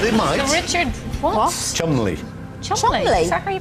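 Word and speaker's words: Cholmondeley: it no but it might be richard what chumley are you pronouncing yes chun li trust me on this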